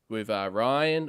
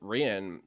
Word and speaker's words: Rian: So that was really cool, just seeing the 3 announced with Ryan, or I should say it's now pronounced. I think it's pronounced Rian, isn't it? I believe it's Rian. Rian.